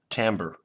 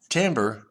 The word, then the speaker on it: timbre: is a sound term called Tambor and Tambor is spelled timbre and this actually is